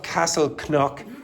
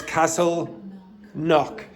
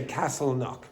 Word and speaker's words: Castleknock: In English, you don't pronounce the K. So you would say, for example, knock. Okay? So you would say Castle Knock.